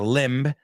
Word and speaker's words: limb: And Chris, you went out on a limb. La B esa es muda, limb. Lo he hecho B aposta porque te estaba enseñando que esa B que está ahí no se pronuncia. Limb. It's not limb, limb.